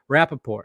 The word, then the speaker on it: Rapaport: I mean that's what I don't 100 yeah Rapaport okay so I am saying it right but